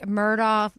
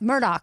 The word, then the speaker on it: Murdaugh: And it's Murdaugh. Murdaugh. Yes, sorry. It's spelled Murdaugh. Mm-hmm. But yeah, it's Murdaugh.